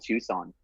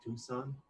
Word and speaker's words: Tucson: That reminds me of old Tucson.